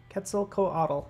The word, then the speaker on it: Quetzalcoatl: awesome what cats cats Quetzalcoatl Quetzalcoatl that's how you say it I'm way off all right all right